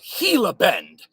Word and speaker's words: Gila Bend: show where I'm coming at you live from Gila Bend Arizona I had to look up the pronunciation of that word Gila Ben Arizona and